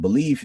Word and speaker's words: Beleaf: Basically, when I was growing up, like I had like super low self-esteem and all that stuff, and so I call myself Belief because like I wanted to like remind myself to believe in myself.